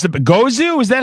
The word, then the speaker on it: Gozu: And how how do I pronounce the Gozu? Is that how you say it exactly? Yeah. Yeah, Gozu. Yeah, you got it. Gozu, man, and it's got that trippy I love the fuzz.